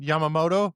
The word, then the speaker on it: Yamamoto: Yamamoto. Is that it? Yeah, I got Okay. Yamamoto actually pitched a complete game.